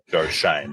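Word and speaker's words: Joe Schoen: sh and uh but the Giants official website says that it is pronounced Shane Joe Shane so we'll go uh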